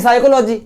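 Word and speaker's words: psychology: तो वहां पे हम पी को नहीं पढ़ते हैं, स्पेलिंग होती है साइकोलॉजी, और किसी से पूछते हो तो एस से कहता है, स्पेलिंग चालू होती है पी से।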